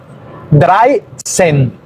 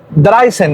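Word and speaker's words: dreizehn: Entonces el 13 sería 3 y 10. Nosotros decimos también 13. Bueno, Dreisen. Dreisen es 13. 3 y luego 10, Dreisen.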